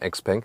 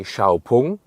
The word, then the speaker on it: XPeng: on, and the name, like the pronunciation XPeng, is just used internationally. Inside China they say Xiaopeng and they just use the logo.